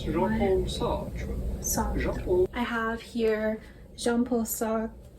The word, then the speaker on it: Sartre: We are looking at how to pronounce Jean-Paul Sartre. Sartre.